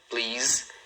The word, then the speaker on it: please: Então, numa sílaba, please. E o som final é um som de Z.